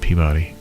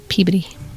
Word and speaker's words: Peabody: said pb instead of peabody if you go to massachusetts they say peabody so now i say that like i'm really cool because i know stuff i would have said peabody i would have said it wrong it's peabody there you go like lobster